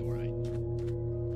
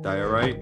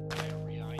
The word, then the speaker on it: diorite: Dorite. I thought you needed deep slate. Diorite, you mean? Diorite. Yeah, say it right.